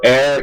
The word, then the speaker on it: ere: Remember, ere, E-R-E is pronounced ere, means before.